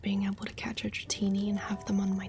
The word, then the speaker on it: Dratini: As Dratini grows, it is constantly in malt.